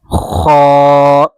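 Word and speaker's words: خ: This Ha without a dot is Ha. Ha. It's light. And this Kha, this one is with a dot on the top is heavy.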